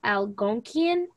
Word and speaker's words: Algonquian: the two dominant languages it's called algonquian and iraq that's how you pronounce it um those were